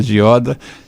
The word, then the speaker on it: Gioda: Eu agora já sei que se pronuncia Gioda, é um nome italiano, né, de família.